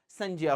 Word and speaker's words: संज्ञा: जिसे आप लोग संज्ञा कह रहे हैं वो संज्ञा ही है, उसका शुद्ध उच्चारण संज्ञा होता है।